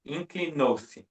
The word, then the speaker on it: inclinou-se: You say with the emphasis in the syllable before, but it is inclinose.